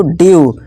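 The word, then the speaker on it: dew: जब किसी वर्ड में ई के बाद डब्ल्यू आए तो ई डब्ल्यू को यू से पढ़ते हैं। फॉर्मूला क्या बना, ई के बाद डब्ल्यू आ जाए, E plus W equal to यू का साउंड निकालना है, जैसे कि डी ई डब्ल्यू ड्यू, एम ई डब्ल्यू म्यू, फ्यू न्यू।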